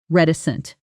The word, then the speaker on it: reticent: Pronunciation: Rhett, I sent reticent.